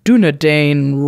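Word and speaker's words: Dúnedain: ring temps you card in this deck is dunedain Rangers sorry I don't know if that's exactly how you pronounce it it is nailed it three to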